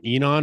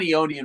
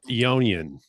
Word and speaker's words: Eonian: Um, you guys are on Enon Records or how how do you even say that? We're on Eonian right now. Eonian. Okay. It's a weird pronunciation, but yeah.